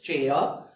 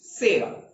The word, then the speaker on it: Chera: It's Chera, but correct pronunciation Sera.